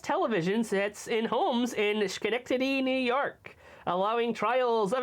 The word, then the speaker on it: Schenectady: the sound of that Schenectady I am I'm pretty sure they pronounce this Schenectady I I think they it's like school oh no Schenectady how